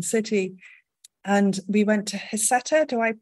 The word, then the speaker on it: Heceta: And we went to Heceta. Do I pronounce that right? They pronounce it Heceta. Heceta Head. Yeah. Heceta Head.